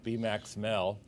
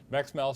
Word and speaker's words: Max Mehl: So they're not I did not make an attempt to take B-Max Mel.